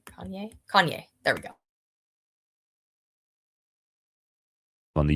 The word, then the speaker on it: Kanye: Heath Ledger was in the screenshot starts with Kane Kanye West. Why can't I say his name that right? Kanye. Kanye.